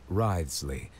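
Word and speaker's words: Wriothesley: personal dealings with the administrator of the Fortress Risley he's a very shrewd fellow that's how you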